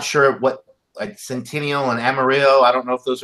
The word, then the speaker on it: Amarillo: hops in your beer I believe it's pronounced Amarillo I could be wrong kind of like that town in Texas so for Amarillo the